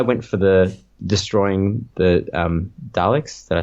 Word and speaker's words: Daleks: I went for the destroying the Daleks.